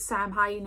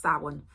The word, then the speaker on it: Samhain: Some people call it Samhain in America. It is pronounced Samhain, as in S-O-W-E-E-N, but with a apostrophe, Samhain.